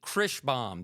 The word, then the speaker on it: Kreighbaum: I'm going to go with uh I'm going to welcome from Two Rubies Estate Sales in Kansas City, Krishbaum. Did I pronounce it You did it!